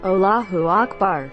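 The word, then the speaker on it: الله أكبر: also pronounce it properly it's not pronounced like all but closer to ull same goes for Akbar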